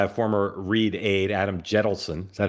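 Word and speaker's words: Jentleson: hometown, started by a former Reid aide, Adam Jettleson. Is that how you pronounce his name, Dan? Yep. Jettleson, Yep.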